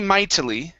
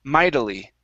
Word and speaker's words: mightily: t's here okay so you can say mightily and that's all right let's try a flap t we're going to say mightily middle mightily mildly there you go that sounds great okay